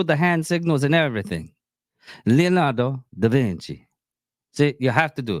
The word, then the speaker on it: Leonardo da Vinci: Yeah, sometimes if I actually know how to pronounce it and everything, I'm gonna probably do it in the country of from. Leonardo da Vinci. You have to say it like that.